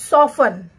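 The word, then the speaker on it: soften: सॉफन, क्या पढ़ेंगे? सॉफन। सॉफन में भी देखिए हमारा टी साइलेंट है, एस ओ एफ टी ई एन, सॉफन।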